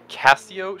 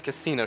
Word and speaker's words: Casio: to make sure to pronounce that chicane as the casio chicane to correct justin who had not stopped calling it the casino chicane casio triangle actually see